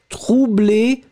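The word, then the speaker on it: troublée: You will add this in the end for the feminine, but still you don't pronounce it. So phonetically, it will be the same. Troublé, masculine. Troublé, feminine.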